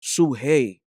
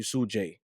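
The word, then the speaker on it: Sujey: It's Suhey. Like in Spanish, you pronounce J with a ha. There's people out there who call you Sujay.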